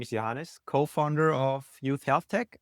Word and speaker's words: Johannes: And today we have a really special guest, Johans. I actually don't know how to pronounce her name. Johans. Johannes. Johannes, it's very correct.